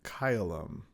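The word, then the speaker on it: caelum: So, the first combination ae is pronounced like I in isle. So, in a Latin example, kyum. Kyleum means sky or heaven.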